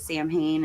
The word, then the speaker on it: Samhain: Also, isn't don't they pronounce it Sam Hain in these movies instead of Samhain, which Samhain.